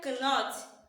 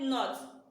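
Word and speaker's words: knot: If you said cannot, you are wrong. But if you said not, you are correct. Is it cannot? No, it isn't. Because the K is silent. K is what? Silent.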